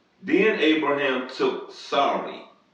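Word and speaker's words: Sarai: h a r a n then Abraham took Sor s a r a i you could say s but they pronounce it Sor his wife and lot his brother's son and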